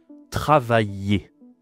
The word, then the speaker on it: travailler: Attention ici à la prononciation il y a I de L. Travailler. C'est difficile hein travailler. Bon, j'ai fait une vidéo sur les consonnes. Va voir hein. La consonne ici c'est un ye travailler.